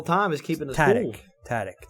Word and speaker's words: Tadych: Tadych, that's how you say it.